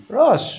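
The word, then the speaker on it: ראש: But Rosh, your head, it's written with an Aleph. You don't pronounce the Aleph. The Aleph just serves as a vowel in this case.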